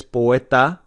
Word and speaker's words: poeta: soft and same with poeta it's not it's poeta the tea is much softer in spanish than it's going to be in english let's look at the